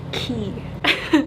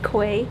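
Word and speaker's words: quay: a cute tea house called t on the key i recently learned that this word is not pronounced koi it's pronounced ki kuwait sounds a lot cooler though um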